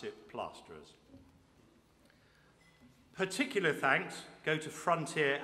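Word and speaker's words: Plaisterers: says placer is on the paper but we pronounce it plasterers particular thanks go to frontier agriculture thank you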